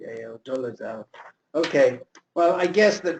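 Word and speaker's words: Dolezal: spell it for me dozal spelled pretty much what how it sounds d o l e z- l c a doal okay well I guess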